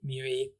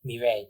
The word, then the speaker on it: Mireille: Yeah, Robert passes by Miri with a smile as I'm saying it right, Miri. Mirei. Mireille, thank you.